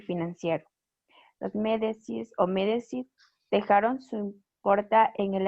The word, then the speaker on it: Médicis: Médicis, así se pronuncia.